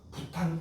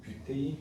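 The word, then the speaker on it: butane: 그래서 우리는 아주 옛날식 발음으로 프로판 가스 뭐 이렇게 한다. 프로판 가스 들어봤니? 프로판 가스, 부탄 가스 이렇게 부릅니다. 원래는 뷰테인 프로페인입니다. 얘를 간단해요.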